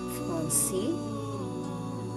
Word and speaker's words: Français: 2A Français. 2A Français. Stress at the S. The S is silent.